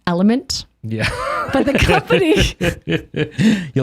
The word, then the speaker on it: LMNT: So I'm pretty sure it's actually pronounced element.